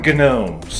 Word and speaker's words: gnome: gnome all right and there's a g there what's that silent g that's i think it's silent so why even put